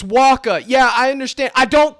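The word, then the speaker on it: Wacha: H I'm calling him watcha and he's lucky I don't call him waa okay the English language is funny and fickle like that if it's pronounced Waka I know but guess what don't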